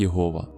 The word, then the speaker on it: Єгова: Тетраграмматон або ж чотирибукне ім'я Бога, записане у вигляді Єгова, вимовляється як Єгова.